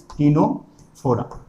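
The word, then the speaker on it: Ctenophora: ही लिखा जाता है, इसलिए मैं टिनोफोरा, इसीलिए मैं इसे सी ही लिख रहा हूं। आप लोग सर पढ़ रहे हो, आप टिनोफोरा लिख रहे हो सी, तो भाई उसमें सी लगा हुआ है, साइलेंट है सी, इसीलिए सिलिंट्राटा एंड टिनोफोरा,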